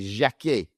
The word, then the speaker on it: Jacquet: Now sticking it with um players in France, you got France international Jeremy Jacquet. That's how you say it in French just in case you're wondering.